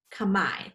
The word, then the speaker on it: Khmer: peace greeting is in a language called khmer sometimes pronounced kamai comes from cambodia in